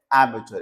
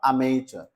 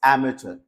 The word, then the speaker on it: amateur: इस वर्ड का correct pronunciation है एमेचर, इट्स नॉट अमेचर, इट्स एमेचर।